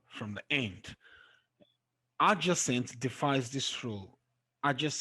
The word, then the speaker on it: adjacent: the end magnificent competent but there are exceptions though and you find it in adjacent i just sense the stress is on the second syllable okay for adjacent the